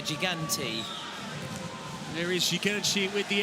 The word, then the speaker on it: Gigante: Not to be pronounced Italian style, Thomas. I don't want to hear you saying Gigante. This is Gigante. I'm going to say Gigante.